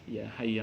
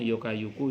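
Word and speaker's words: يا حي: Ya Hayyu ya Qayyum ya dzal jalali wal ikram. Kalau dulu orang tua kita belum bisa baca ya Hayyu ya Qayyumu, bacanya Yokayuku Yokayumu.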